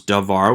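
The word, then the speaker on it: דְּבַר: So, for instance, we have the word davar, which becomes davar with a shva and a patak.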